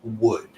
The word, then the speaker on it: would: beginning of the class that L is silent in all of these words so in this it's pronounced just like we would pronounce the word Madera in English which is wood all right and wood